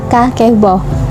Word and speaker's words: kakeibo: ini disebut dengan kevel jadi tulisannya itu adalah kakeibo tapi dibacanya itu adalah kaki bau apa sih Kepo ini